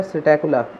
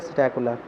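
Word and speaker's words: Psittacula: लोग क्या बोलते हैं सकला इसमें पी क्या रहता है साइलेंट रहता है तो इसको क्या बोला जाता है सकला नेक्स्ट हमारे पास है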